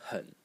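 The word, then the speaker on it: 狠: next character over here this character is also pronounced hun hun but it means disobedient fierce disobedian Edient.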